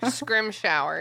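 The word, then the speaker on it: Scrimgeour: his name right scrim Gore Instagram shower yeah scrim shower what I don't like that like what does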